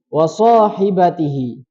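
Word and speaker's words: وصاحبته: Wasahibatihi. So-nya itu dua harokat saja.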